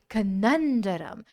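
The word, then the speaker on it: conundrum: हमारा आ गया है कैसे प्रोनाउंस करेंगे इस वर्ड को यह वर्ड है कननर कननर कंडम तो कनम इज अ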